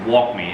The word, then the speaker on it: Wakyme: video for this company i think it's pronounced walkme it's w-a-k-y-m-e um how i get